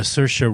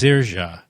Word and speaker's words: Saoirse: Brooklyn it starred a Saoirse Ronan that's it that's a good cinema club quiz how do you pronounce her name she says it's pronounced Saoirse in traditional irish and that's the way